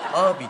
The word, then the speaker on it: ağabey: Abi diyeceksin. Ağabey yazılır, abi okunur.